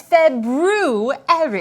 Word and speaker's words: February: currently in oh oh the proper pronunciation for the second month of the year is February I know that because